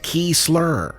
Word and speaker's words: Kiesler: a little more difficult, David Kiesler, pronounced Key Slur, Boy Got Them Honka-Honkers, Kevin O'Malley, Invisible Guerrilla, The Mrs.